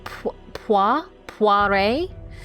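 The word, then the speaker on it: Poiret: So, it's it's pa puare. So, it's spelled it's spelled very French is what I will say.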